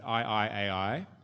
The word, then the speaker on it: I 愛 AI: Um so the book's called um to pronounce it I I AI.